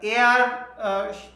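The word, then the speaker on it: air: যেমন আমরা এয়ার, in generally আমরা বাংলাদেশিরা এয়ার বলে থাকি। এই এয়ারটা ব্রিটিশ পদ্ধতিতে কিন্তু র এর উচ্চারণটা হয় না, এরা বলে এয়া, এ আ। আচ্ছা, আর আমেরিকানরা অবশ্য এয়ারই বলে।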